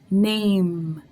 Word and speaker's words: name: name fue name me name termina en él pero cuando uno la pronuncia termina en la m eso quiere decir que la boca tiene que quedar cerrada name name fue mínima lógicamente